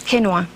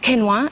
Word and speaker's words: quinoa: lunch or a salad U so this is quinoa it's spelled q i n o a and ESS